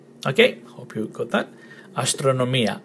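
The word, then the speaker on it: αστρονομία: Astronomia. Astronomia. Okay, hope you got that. Astronomia. Emphasis on the E, the last E.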